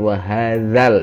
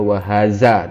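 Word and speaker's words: وهذا: Kemudian wahadzal, itu adalah huruf za kecil. Tidak boleh dibaca wahaza, tapi harus dibaca wahadza.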